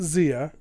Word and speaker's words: Zia: cleaning the bathrooms also my name is pronounced zia and i'm a girl i'm